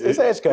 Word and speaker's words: Edgecombe: thought you Pitt County, but no, anyway, it's Edgecombe.